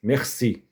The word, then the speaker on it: merci: Se diz merci. Esse R aqui não é o R de carro, né? Um R, dois Rs vibrantes. Já é um R gultural.